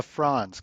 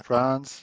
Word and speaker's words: Franz: Is that Am I pronouncing that correctly? Zack France. A France. Kind of like the box one the country. Yeah, France.